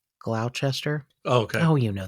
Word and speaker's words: Gloucester: And she said something like, I think one of her children lives in Gloucester, but it looks like it's Gloucester. Oh, okay. Oh, you know those Gloucester.